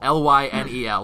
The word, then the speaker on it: Lynel: Oh, it's 2 syllables. It's 2 syllables. Lionel. So Lionel. Lynel. Lionel.